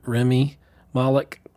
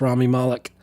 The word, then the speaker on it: Rami Malek: actor was rami malek I always say it wrong is Rami I want to say Remy Moloch but it's Rami Malek mr.